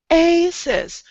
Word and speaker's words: oasis: But if you have this word, they are in two different syllables. Oasis. So you have to connect that O and that A.